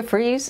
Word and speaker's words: Fries: My name is Fries, and the last name is spelled F-R-I-E-S, like fries.